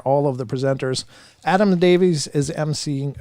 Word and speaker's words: Davies: Adam Davies is emceeing, or Davis, I think you pronounce it Davis, actually, but is emceeing.